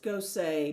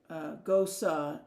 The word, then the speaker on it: Gose: the beer Style ghosts Gosa is German and is pronounced much the same way as the name Rosa with the emphasis on the o and the E making